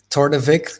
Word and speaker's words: Torthevic: i pronounce it correct tordevic is a play on victor your name tor de vic right excellent cool welcome